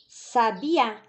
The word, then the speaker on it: sabiá: 13 também sabia falar só que aqui a última última sílaba tem acento Então tá fácil Aqui está a tônica se é a última né é a tônica isola é uma oxítona Então vamos colocar lá